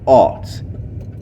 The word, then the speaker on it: Ault: and home of Kevin Ault. I think that's how I pronounce his last name, A-U-L-T, who was Indiana Mr.